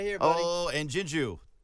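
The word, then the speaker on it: JinJoo: Oh, and Jinju. Did I say that right? Yes. I mean, when I mispronounce names, I feel like a jerk the rest of it. Usually it's Ginger.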